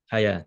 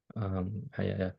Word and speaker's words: حياة: you're stopping on hayat, how do you pronounce it? حياة, yeah. Yeah, I know it sounds weird because it doesn't sound like hayat anymore, but that's how you're supposed to do it.